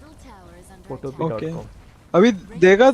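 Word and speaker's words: Photopea: रहा हूँ, साइट है फोटोपिया बोल के। ठीक है, फोटोपिया हाँ डॉट हाँ। कॉम। फोटोपिया मतलब पी, पिया नहीं है एक्चुअली, फोटो पी है वो, PEA है।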